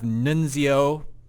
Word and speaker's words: Nunzio: We'll go with Nunzio.